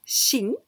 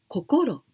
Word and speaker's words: 心: And the second one, this here we pronounce shin, but we can pronounce kokoro.